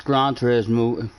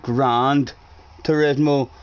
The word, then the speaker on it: Gran Turismo: but mainly benson no it's gran turismo seven not grand turismo what do you see